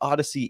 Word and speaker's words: Odsy: idea um the the Odyssey network is spelled um odsy we do pronounce it like the Space Odyssey or the Greek epic Pole now Odyssey but